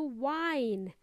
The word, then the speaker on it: whine: wine new word Amigos to Wine spelled as wh h i n e it sounds the same as wine wine is my favorite